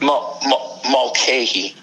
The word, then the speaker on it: Mulcahy: Mulcahy.